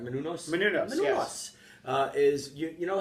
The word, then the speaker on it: Menounos: Menounos, yes.